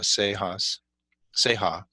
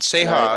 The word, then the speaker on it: Ceja: Um, any final words, as far as I'm with Seha, and you can be found on Facebook and Instagram and Instagram.